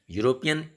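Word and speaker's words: European: लेकिन वहीं यूरोपियन, यूरोपियन ई vowel group में है, 5 वॉवेल ग्रुप में है, लेकिन इसका उच्चारण आप देखिए, प्रोनाउंसिएशन देखिए, यूरोपियन यॉ से शुरू होता है, इसलिए यहाँ ए हो जाता.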